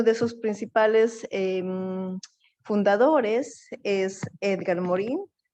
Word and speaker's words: Edgar Morin: sus principales fundadores es edgar morin algunos lo pronuncian édgar moral pero bueno y vamos a